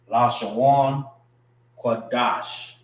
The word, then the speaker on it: Lashawan Qadash: Wan is pronounced together.